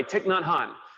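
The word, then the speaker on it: Thích Nhất Hạnh: Pieces Every Step is a great book by Thich Nhat Hanh.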